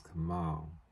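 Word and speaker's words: Kamaal: Kamal and Ali were no his name is Kamal get that right I will get that right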